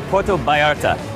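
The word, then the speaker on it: Puerto Vallarta: Mexican beach destination welcome to PTO Barta or as the locals say Porto Barta sure they've got world-class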